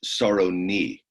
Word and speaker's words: Sarony: By the way, it's pronounced Sarony, Napoleon Sarony.